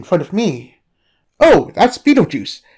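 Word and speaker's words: Betelgeuse: a film no the star's name was the inspiration for the film the film was spelled b-e-e-t-l-e-j-u-i-c-e the Stars spelled b-e-t-e-l-t-e-u-s-e I feel like you're pulling my leg that's a very weird way to spell it we aren't what did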